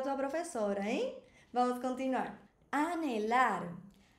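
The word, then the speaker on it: hablar: Anelar. Lembra que no espanhol a letra H ela não tem som, ela é muda.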